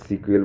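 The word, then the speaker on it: SQL: তো নোট হচ্ছে উচ্চারণের সুবিধার জন্য এসকিউএল শব্দটি অনেক সিকিউএল বলে উচ্চারণ করে।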